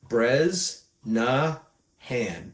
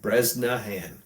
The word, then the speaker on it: Bresnahan: Brezna Han. Breznahan. Breznahan. Sounds like it's spelled.